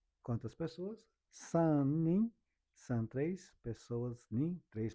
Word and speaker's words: 三人: Vamos ver como que é pronunciado. 何人？三人？ Nanin, sanin.